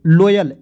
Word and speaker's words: loyal: देखिएगा LOYAL, देखिए L से होता है दोस्तों ल लिखेंगे, O आएगा, तो इसका OY है तो इसका उच्चारण Y के रूप में, और L से क्या होगा दोस्तों, ल, ठीक है, L से ल, तो लोयल, LOYAL लोयल, ठीक है।